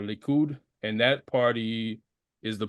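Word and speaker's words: Likud: founded the party uh I think it's pronounced liid uh or leud and that party is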